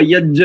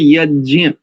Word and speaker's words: यज्ञ: और ये यज्ञ, प्रायः अपने लोग भी इसका यज्ञ ऐसा उच्चारण करते हैं, जैसे 2 जकार मिला करके, तो ये सानुनासिक वर्ण है, अनुनासिक प्रयोग है इसमें, यज्ञ ऐसा।